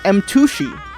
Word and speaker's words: M2shi: Yes, Pizza Post, you should check out my second YouTube channel pronounced M2shi. M2SHI.